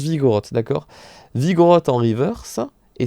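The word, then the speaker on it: Vigoroth: la rivers au kermadi vigo roth il se prononce vigo roth d'accord vigan attend rivers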